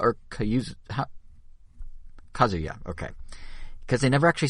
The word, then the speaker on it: Kazuya: So we had a direct where they showed, is it, how you pronounce it? Is it Kayuza or Kayuza? Kazuya, okay.